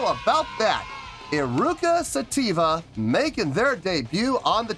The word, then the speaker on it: Eruca Sativa: two nights tonight we have i hope i pronounce this name right iruka sativa yes indeed how about that iruka sativa making their debut on the channel before we